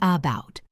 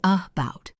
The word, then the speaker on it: about: We don't say about, we say about. That first a is awah or the word banana.